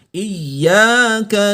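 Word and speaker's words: إِيَّاكَ: Ada ya tasdid. Ingat kalau tasdid berarti double bacanya ya, menggandakan bunyinya. Gandakan bunyinya. Iyyaka na'budu wa iyyaka nasta'in.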